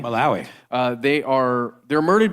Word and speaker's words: Malawi: places like Tanzania and maloi or sorry how do you say it malao Malawi uh they are they're